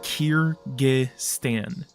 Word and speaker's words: Kyrgyz: earlier days um but if you're wondering how to say it it is Kiran um what is your